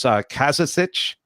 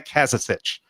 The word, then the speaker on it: Kazazic: have right is your bio here, and it's Kazazic. Am I saying it correctly? Kazazic? Yeah. Kazazic.